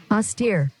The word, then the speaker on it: austere: অস্টেয়ার, আমি যতটুকু বুঝলাম সেটা অর্থ হচ্ছে এরকম, এ ইউ এস অস আর এরপর স্টিয়ার দিয়ে দিছে, অস্টিয়ার, মানে আর ই যেটা এটা বাদ দিয়ে দিছে, এটা সাইলেন্ট, অস্টিয়ার এই টাইপের কিছু একটা আসে।